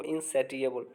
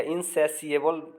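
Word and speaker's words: insatiable: जो सेटिस्फाइड नहीं हो, इनसैटिएबल या इनसैसिएबल भी इसका प्रोनाउंसिएशन होता है, लालची।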